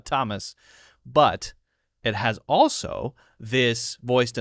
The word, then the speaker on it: Thomas: has voiced and unvoiced th has a special sound which is T like Thomas for example t h o m a s t th T Thomas but it has also